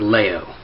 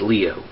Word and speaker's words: Leo: It's actually pronounced Leo. It's not Leo. It's Leo.